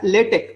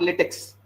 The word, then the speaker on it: LaTeX: You pronounce as LaTeX, not LaTeX.